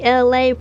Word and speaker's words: Elay: Hey, it's me, Elay, pronounced like LA like the city.